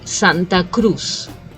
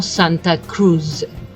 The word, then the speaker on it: Santa Cruz: Santa Cruz I think the only thing I will change in the pronunciation is the Z in English you tend to pronounce as the very strong but in Spanish it's not so it should be Santa Cruz no Santa Cruz if that makes any sense okay and by the